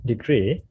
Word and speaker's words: degree: Yeah, the standard pronunciation is degree.